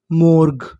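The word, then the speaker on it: morgue: अब आपको यहां पर पता है कि लिखा है जी यू ई और आपको पता है कि जी यू का उच्चारण हमें करना नहीं है। तो मीनिंग क्या बनी? एम ओ मो आर मोर जी यू ई गा मोर्ग। मोर्ग।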